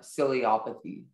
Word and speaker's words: ciliopathy: Are there any alternate pronunciations? There's just the one, ciliopathy.